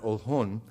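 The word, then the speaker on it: Oljon: The village of Ohlone, O-L-J-O-N is how it's been spelled. In Spanish, we pronounce that Ohlone, was located on the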